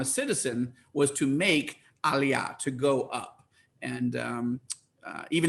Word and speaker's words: Aliyah: Is it Aliyah or Aliyah? Oh, Aliyah, actually. Aliyah.